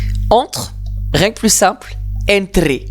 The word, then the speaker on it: entre: Entre, rien que plus simple, entre. Attention à bien penser que le E se prononce toujours E en espagnol.